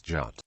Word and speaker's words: jut: Also, the letter G is pronounced as a Y sound. This is exemplified in the word for good, in which gut becomes jut.